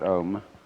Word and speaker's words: Om: Actually, the word Om is spelled out in Sanskrit, Ah, U, and thus comprises the whole range of sound from the back of the throat to the lips.